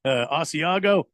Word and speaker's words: Asiago: I said it wrong. And the lady corrected me at the counter. Like, oh, you mean Asiago?